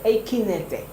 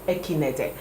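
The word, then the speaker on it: Ekeinde: Okay, so her name is Omotola Jalade Ekinete. I think that's how the Nigerians pronounce it. Omotola Jalade Ekinete.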